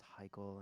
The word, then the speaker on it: Hikele: People pronouncing it, just constantly hearing, "Oh, the next song from Hikele," and me going, "No, it's Hikele, sorry."